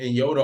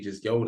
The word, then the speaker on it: Nyota: So she told me that just like her name, the N is silent in Africa. They don't pronounce the N. So I was like, oh, so I've been saying in Yoda all this time.